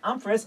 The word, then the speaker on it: Umphress: it's pronounced not pronounced and it's pronounced umis first name of thank you just woring the